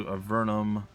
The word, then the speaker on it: Avernum: going to go sorcerer it's a vernum not avernum it doesn't really matter